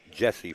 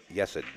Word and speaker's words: Yesid: we've been calling him Jesse for years but it is pronounced yesid um just like you see it on the screen thank you Mandy Woo